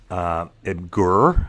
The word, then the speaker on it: Imgur: Imgur is how you say it.